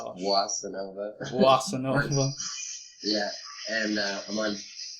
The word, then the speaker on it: Boissinova: It's pronounced Boissinova.